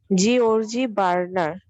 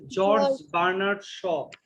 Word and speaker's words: George Bernard Shaw: জিওর্জি বার্নার্ড। আচ্ছা, এটার উচ্চারণ হচ্ছে জর্জ বার্নার্ড শ। জর্জ বার্নার্ড শ। বলো।